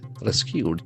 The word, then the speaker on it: rescue: The accent falls on the first syllable. Rescue. There are two syllables.